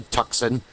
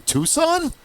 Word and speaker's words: Tucson: and how to pronounce You don't say tuxen. The first time I heard a far non-Amazonian say that, I was like, Tuxen? What do you mean Tucson?